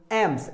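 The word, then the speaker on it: alms: एम्स, एम्स होता है भीख, जो एल जो यहाँ पे है इस ये साइलेंट है, तो आप नहीं कह सकते कि आर्म्स, एलम्स नहीं कह सकते आप कुछ इस तरह से, आर्म्स है, राइट, ये एल साइलेंट है, तो क्या बना?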